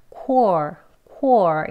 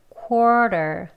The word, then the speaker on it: quarter: 원어민들도 이렇게 quarter 그러니까 quarter 하기 발음이 쉽지 않기 때문에요. 어떻게 편하게 하냐면요. 이 W 소리를 내지 않고요. 그냥 quarter 이렇게 발음합니다. 그래서 그냥 quarter quarter 이렇게 발음을 해요.